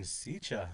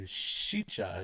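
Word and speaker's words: šiča: The shicha is the word on that one, and so I think that's just coming from these little how it's spelled, hey, not understanding the little dot that goes up on top.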